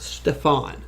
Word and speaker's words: Stefan: Stefan. Stefan. There you go. Stefan. Is that Stefan? It's Stefan. A very big accent on the "an."